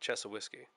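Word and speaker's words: Chassahowitzka: this place called the chess of whisky Wildlife Management Area I know it's not spelled like that but that's how the locals say it chesil whiskey so you go into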